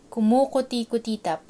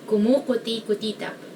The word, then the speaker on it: kumukuti-kutitap: Next one is kumukuti-kutitap, meaning twinkling. So I guess the hard part of this is like the vowels, because like it's mostly oo, but there's like I and somewhere.